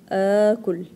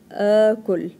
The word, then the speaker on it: آكل: two as together, and you will pronounce it as two sounds of a, as in the action word أكلة. أنا آكل. آكل.